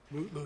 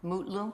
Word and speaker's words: Mutlu: Is it Metloo or Mutloo or how do you pronounce his last name? Mutloo, your honor. Mutlu.